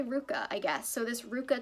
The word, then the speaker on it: RVCA: just gonna say rvca she says it's pronounced ruka but uh i'll just say ruka i guess so this